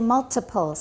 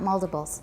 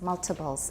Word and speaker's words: multiples: Okay, we say multiples, not multiples, multiples. There's a consonant before the T, so it's not a tap, multiples.